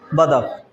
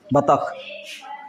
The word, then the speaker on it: बतख: हाँ ऐसे लिखा रहता है, लेकिन हम लोग उच्चारण क्या करते हैं उसको, बदक, बदक बोल देते हैं, है नी, जबकि वो बतख लिखा रहता है, बतख।